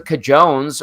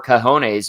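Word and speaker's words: cojones: and they absolutely do he's got the cajones or kones if you want to say it properly to make a move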